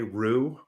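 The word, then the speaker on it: Ryu: to pronounce his name i say a lot of the japanese say rue okay i think we're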